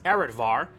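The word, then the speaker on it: Areadbhar: Heroes Relic the Lance arvar and yes it's pronounced like that is of Irish origin and translates the slaughterer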